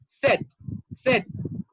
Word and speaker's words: said: No, it's not said, it's said.